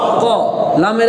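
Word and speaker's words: قُلْ: ক বলি কেমন এখন দেখেন তাহলে লামের একক কি ল ল তাহলে লর্ন মৃত হসন্ত কুল কুল তাহলে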